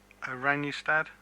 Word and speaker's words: Oranjestad: The capital city, I think you said it's pronounced Oranjestad? Yes, that's correct. Orange City. Orange City.